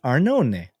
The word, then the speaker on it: Arnone: what it is arnoni it's hard to pronounce um because it looks like our none but it's arnone uh so just pronounce it that way uh she's a yoga